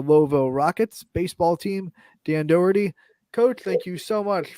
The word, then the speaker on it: Doherty: We're going with a CK sound, so it's Doc, like DOCK, as if it were. So Doherty.